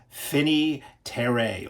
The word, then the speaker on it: Finis Terrae: is one to check out from Eureka Classics, Phiney Trey. Or if you're looking to know how to spell that, it is Finnis Terrare from 1929.